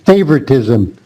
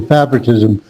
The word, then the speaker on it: favoritism: Just one word, Phung, is the word favoritism. That's a long A. I think you said short A, favoritism, but favoritism, okay?